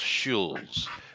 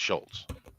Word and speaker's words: Schulz: His name is actually Charles Schulz. Now, that is a weird one because I always heard it pronounced Schultz. Always. Oh. Even though I've known it was spelled the other way, you still pronounce it Schultz, right? Right. Yeah, no, it's definitely Schultz.